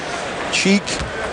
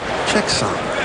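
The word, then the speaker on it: Cheikh Samb: Cheek. No, check. Check. Sham? Sam. Check Sam.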